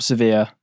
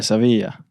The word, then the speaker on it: Sevilla: Spanish pronunciation maybe. Yeah. Sevilla. Yeah. There we go. I don't know. There we go. I said it with accent so it's all right.